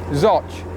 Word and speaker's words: Zouch: So we're leaving the village of Zouch. Or how do they pronounce it, the locals? I can't remember now. Zoch. As in Ashbydilla Zouch, but Zoch, the locals call it.